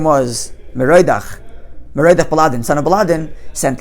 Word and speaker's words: Merodach: Be'esi, at that time, pre-destruction, Shalach Mardon Baladon ben Baladon, the predecessor of Nebuchadnezzar, whose name was, how do you pronounce it? Merodach.